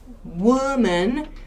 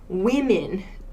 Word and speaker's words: women: is woman and women woman woman WOM aan and women woman women spelling is very similar but we actually changed this o sound and the ending vowel sound whoa men with men